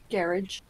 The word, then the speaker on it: garage: is the garage garage garage well apparently I've been told that garage is the correct pronunciation because it's actually a French word so I don't know